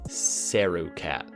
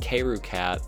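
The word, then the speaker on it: KaeruCat: guy Kay root cat I was actually pronouncing his name completely wrong at the time sarah-cat well it just so happens that kaeru cat also sent me a link to something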